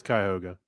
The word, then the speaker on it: Cuyahoga: Welch was from that area, and he corrected me on the pronunciation. I believe it's Cuyahoga. It is Cuyahoga.